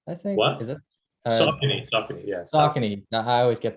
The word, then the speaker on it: Saucony: Saucony, is that how you pronounce it? I think. What? Is it? Saucony, yeah.